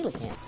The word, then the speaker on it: coelacanth: Well, I didn't mean to, I was trying to get the coelacanth. By the way, there's the correct pronunciation of that fish's name. Some people call them coals, and those are not just like that.